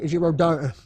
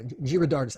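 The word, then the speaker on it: Giridharadas: And do you know who the writer Anand Girardot? I'm going to say his name badly. Anand Girardis. There we go. Girardis.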